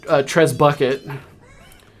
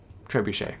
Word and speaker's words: trebuchet: we got a better Trez bucket. Trebuchet.